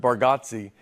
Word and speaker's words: Bargatze: I told you, I think you say our last name correct with Bargatze, and I think we say it wrong as a family. Bargatze. For years, I've been calling you Nate Bargatze.